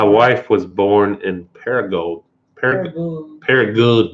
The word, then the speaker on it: Paragould: Paragould. You got to say it like that. I was corrected recently.